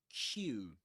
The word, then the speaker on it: queue: And for example, today we discussed how to pronounce this word Q. Q. And we said that the well we we pronounce it just like the letter Q, right?